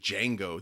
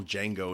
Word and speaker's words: Django: J is silent.